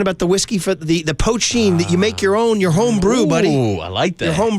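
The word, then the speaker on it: poitín: Yeah, a little taste on the tongue from you go out and make your little, I think they call it poachine, Poteen, but it's pronounced poachine.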